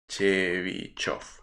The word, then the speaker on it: Chebyshev: Vovich, pero no sé si se pronuncia la L o no. Y el apellido famoso es Chebyshov.